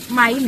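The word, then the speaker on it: Main: आहे ना माझा आडनाव म्हणजे माझा आडनाव माईन आहे जानवी माईन पण त्याची स्पेलिंग आहे एम ए आय एन English मध्ये एम ए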